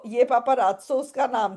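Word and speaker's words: paparazzo: तो Italian words में दो जेड इकट्ठे आते हैं। उनकी प्रोनाउंसिएशन कैसी हो जाती है? त और स पहला जेड त दूसरा जेड स।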